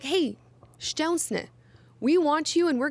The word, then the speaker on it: Szczesny: And yes, it's pronounced Szczesny. I'm Polish. I know the spelling is insane. To say it is insane. There are like 600 Z's in his last name, but that is the correct pronunciation.